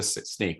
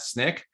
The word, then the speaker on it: Snyk: to always remind people we are pronounced sneak not snick um and this statement